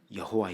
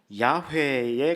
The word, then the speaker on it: 야훼: 여호와 라고 있지만 은 원래 발음은 야외에 가까울 것이라고 봅니다 야외 예 여러분 여호와